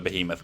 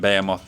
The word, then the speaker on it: behemoth: A 100,000 ton ship the behemoth class there. In fact, I'm almost certain we've done this one before because I remember mispronouncing it Bamoth the last time as well and explaining